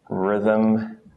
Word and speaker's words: rhythm: just one cent and Rh the H becomes silent so we just pronounce the R I don't know why I rubbed that off just r as in Rhythm rheumatoid things like that